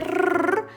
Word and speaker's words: rr: Si se marca doble rrr, es un sonido muy fuerte. Rrr, como carro, cuando hay dos R juntas.